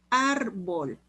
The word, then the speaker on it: árbol: árbol. El acento lo lleva en la A, ar es la penúltima sílaba, se le pone tilde porque termina en L.